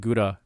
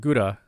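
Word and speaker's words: 蔵: But the play on words here is that gura, it's actually pronounced kura on its own, and this kura phonetically refers to Kuranosuke, the hero of the story.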